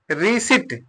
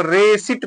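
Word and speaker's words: receipt: core पढ़ेंगे इसको है रि सट आर ई सी ई आई पी टी यहां पर प क्या है साइलेंट है तो क्या पढ़ेंगे इसको रेसट पढ़ेंगे रेसट क्या पढ़ेंगे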